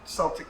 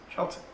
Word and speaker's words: Celtic: That's not Celtic, it's Celtic.